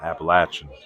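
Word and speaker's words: Appalachian: How do you pronounce the mountain range? We're in Appalachin.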